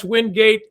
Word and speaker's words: Wingate: speak Chris wind get Windgate school officials have told us either is acceptable as a pronunciation Windgate is the only